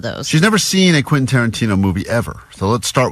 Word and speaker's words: Quentin Tarantino: All week, as she's been talking about this prize we have, she's been saying, Quinton? Quintanana. So we're like, what? You talking about Quentin Tarantino still?